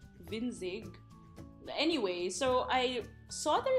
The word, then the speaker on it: Winzig: So actually, I went on this shop in Shopee called Winzig, and I thought it was like a Chinese word, but apparently it's German, which means like small things.